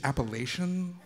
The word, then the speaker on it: Appalachian: Carolina said said like you know the correct pronunciation is Appalachian like the other kids were having like